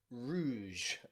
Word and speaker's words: rouge: then finally we have the french loan word sound which is the super soft g in words like rouge okay or beige or even prestige okay in all of these words we have that j sound okay which is very rare but in french loan words it does exist then we have the